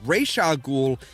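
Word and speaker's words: Ra's al Ghul: speaks Arabic is like no no no the pronunciation ragul is I think it's the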